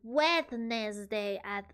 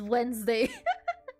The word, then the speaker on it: Wednesday: And then they decided to pronounce Wednesday as Wednesday. I guess it's kind of like laboratory, right? Wednesday, but it should be Wednesday, right?